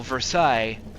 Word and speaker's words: Versailles: Like, for example, Versailles, you're not going to pronounce the S at the end.